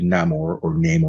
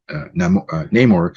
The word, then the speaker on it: Namor: characters, Riri Williams and Namor, depending how you say his name. There's no right or wrong. I always said Namor, but they say Namor, and they say his name differently in the movie.